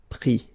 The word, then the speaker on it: pris: Prendre, pris.